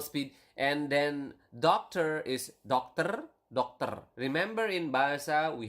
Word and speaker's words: dokter: And then doctor is dokter. Doctor. Remember, in Bahasa, we have covered this in previous lesson. You need to pronounce the R. Okay, so doctor, not doctor or something like that, but dokter. Okay, so with a doctor is dengan seorang dokter.